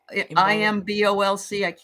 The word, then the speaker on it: Imbolc: Is so the Saint of Ireland, Saint Bridget feast day, isn't that also IMBOLC? I don't know how to pronounce it.